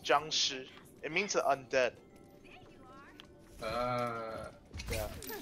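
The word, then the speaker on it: 僵尸: There's an R that isn't there. Yeah. It's pronounced Jiangshi.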